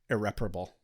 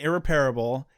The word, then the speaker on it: irreparable: yeah, like You know, the one that kills me is irreparable. I mean, not anymore, but it did originally. Irreparable. I was pronouncing it irreparable, and I got corrected by one of my theater professors.